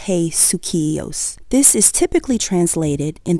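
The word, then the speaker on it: ἡσυχία: should strive to obtain the key word in the scripture is hakia or pronounce as hey suos this is typically translated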